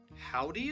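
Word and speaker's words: Houdee: I think it's pronounced Howdy. I really hope it's pronounced Howdy. It's H-O-U-D-E-E.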